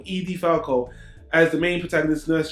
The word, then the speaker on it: Edie Falco: dark comedy drama which features the main character Edie FAL Edie Falco he pronounced that wrong Edie Falco as the main protagonist Nurse Jackie Nurse Jackie